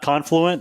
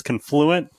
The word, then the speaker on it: Confluent: It's confluent ticker symbol CFL LT and we we did the pronunciation to it's not confluent as I would wanting to call it. It's confluent and you nailed it.